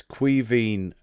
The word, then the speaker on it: Caoimhín: Bryn wants to know how you pronounce the Irish keeper's name, the Scouser number 2. It's Caoimhín Kelleher.